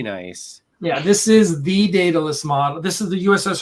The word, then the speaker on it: Daedalus: I don't know why, but so think DAE would be pronounced day. Daedalus.